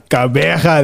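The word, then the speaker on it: Gqeberha: And then I must pronounce it the right PE, but I must pronounce it Kabeja.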